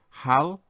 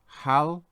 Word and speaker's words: Hallowmas: So let's have a look at how we pronounce this in more detail. Hal-o-mas. And again, Hal-o-mas.